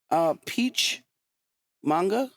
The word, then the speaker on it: Peach Manga: Peach Manga.